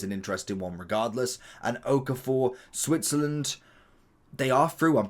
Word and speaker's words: Okafor: We have Sesko and also Okafor, I think is how you pronounce his name.